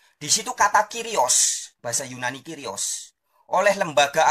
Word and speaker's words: kyrios: hanya satu arti kyrios tulisannya kurios bacanya kyrios ya Hai tetapi ketika